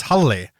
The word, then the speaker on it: Halli: I applied with a guy whose name is Halle. Yeah. But it's spelled, and it's the shortened version of Haraldur. Yeah. But it's spelled Halli.